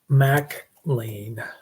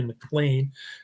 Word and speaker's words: MacLaine: Shirley MacLaine, like Big Mac.